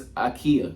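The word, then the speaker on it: Ika: No, it's Akia. I know I've been saying it right. Y'all got on me in the comments. It's Akia. Siaka Akia.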